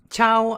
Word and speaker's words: Ciao: Ciao, I'm from Italy. 여기 시아오 아니고 차오라고 발음하면 되겠습니다. 당연히 중국어 아니고 이태리어입니다.